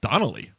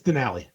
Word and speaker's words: Denali: Is that how you pronounce it? Denali. Denali? What'd you say? I said Donnelly. Oh, it's Denali.